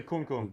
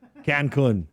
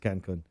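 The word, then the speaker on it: Cancún: As long as you don't say kun kun. Kung, yeah. Don't say Jay. Don't say Cancun. Don't say kun kun. Cancun. That's Ted Cruz, right? Yeah. I went to Cancun.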